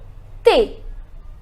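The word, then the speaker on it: thé: drink is tea look hey look hey hey means tea now remember HS silent so it is take the next is coffee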